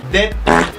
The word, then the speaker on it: debt: Det! Det, tara pag-pronounce na. Silent B na siya.